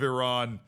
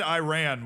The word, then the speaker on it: Iran: Just hearing Shaq say the Islamic Republic of Iran. Oh, he said Iran, which is the American way to pronounce it, which which just triggered the entire country of Iran.